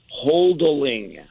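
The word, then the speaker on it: HODL: in people with Chris it's pronounced holding holding that's right yeah what's the acronym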